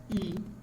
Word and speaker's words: Yii: developing modern web application normally it is pronounced as e and this equal mob